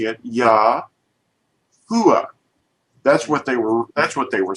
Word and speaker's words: Yahuah: our pronunciation today of Yahuah, because this is not a V to them. It's a V to us, but it isn't a V to the people of the 1500s.